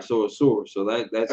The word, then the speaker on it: Ashur: Is that how it's spelled? Go on. Ashur. Asur. Asshur. Asur. All right, so Asur. So that's not. All right, so that's not Asher.